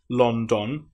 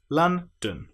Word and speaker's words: London: It's not london as it looks like it should be. It's l so a and then dun uh our most common vowel sound lun.